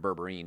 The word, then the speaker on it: berberine: I'm coming out with a berberin supplement of berberine depending how you want to pronounce it that help stabilize blood